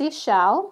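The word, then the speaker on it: Ix Chel: can find it here there it is it's pronounced e shell okay and she's actually a Mayan goddess she's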